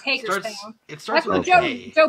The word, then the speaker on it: Hagerstown: It's Hagerstown.